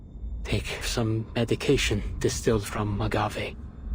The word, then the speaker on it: agave: Take some medication distilled from agave. Agave. So that is how you pronounce it.